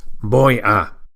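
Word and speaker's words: voy: It's boy. Remember the V should be pronounced as a very light B with the lips barely touching each other.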